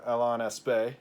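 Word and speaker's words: Alain Aspect: it and you know Alan aspect or Alain Espe or as is so to be correctly pronounced his name in France is uh is like well yeah Belle's inequality is is demonstrated did.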